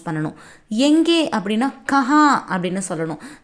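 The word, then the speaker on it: कहाँ: ஹிந்தியில் வஹா அப்படின்னு ப்ரொனவுன்ஸ் பண்ணணும். எங்கே அப்படின்னா கஹா அப்படின்னு சொல்லணும்.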